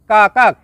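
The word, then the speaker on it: kakak: Number 3, কাকা, যার বাংলা অর্থ বড় বোন। শব্দটি লেখার ক্ষেত্রে লেখা হয় কাকাক, তবে এর সঠিক উচ্চারণ হবে কাকা।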